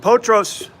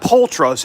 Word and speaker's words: Potros: And Potros, no, not Poltros, it's Potros, P-O-T-R-O-S.